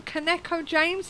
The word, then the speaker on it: Kaneko: Because is it Kaneko-James? Is that how you pronounce it? Oh crumbs. Well, I pronounce it as badly as anyone else, but it's Kaneko.